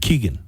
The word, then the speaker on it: Keoghan: How do you pronounce his last name? Keoghan. Keegan.